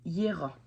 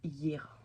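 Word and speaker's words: Jera: Les runes nous ont donné comme conseil Hiera. Hiera, vous voyez, la rune est ici. Alors oui, ça s'écrit Gera, mais ça se prononce Hiera.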